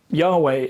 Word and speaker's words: Yahweh: One way to try and pronounce it is Jehovah and another way is Yahweh. Yahweh is what most modern linguists think is probably close to accurate.